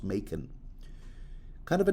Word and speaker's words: Machen: Do you know I've been pronouncing it Machen all this time, and then Wikipedia corrected me. No, it's pronounced Machen.